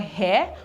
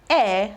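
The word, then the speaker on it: heir: we we have a this is not called here we call it air the air now this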